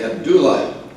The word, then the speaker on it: Abdullah: First meet Catherine Kate Abdullah, accent on the do. She's a do girl.